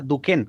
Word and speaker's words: Duchenne: amigos que se llaman la sonrisa duke que se escribe duchenne que activa es una